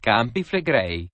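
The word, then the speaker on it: Campi Flegrei: The movement is impressive, but the inch or so a year Yellowstone moves pales in comparison to It's pronounced campiflegrei.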